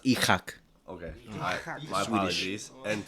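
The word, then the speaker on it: Isak: One, I think Isaac, if these next 3 weeks he decides to say, which I think he really should. He's gonna have It's a really pronounced. good It's season. pronounced Ichak.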